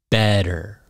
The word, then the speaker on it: better: Better, better, better, better. It's better than other ones. Better. So this T sound is a D.